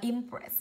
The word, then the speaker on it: impress: Ib đọc là impress, âm thứ hai của cô ss, hai phụ âm đứng cạnh nhau, trọng âm rơi âm tiết thứ hai.